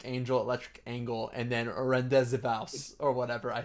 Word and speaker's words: Rendezvous: This is, oh yeah, the one I couldn't pronounce. It's Rendezvous, right?